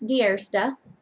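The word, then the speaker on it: Die Eerste: If you were wondering how to pronounce it when you saw all the letters put together, it looked like Diersti. It's actually Afrikaans for the first.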